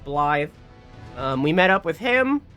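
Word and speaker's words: Blaidd: is all Scottish folklore based uh so it's pronounced blly um we met up with him uh and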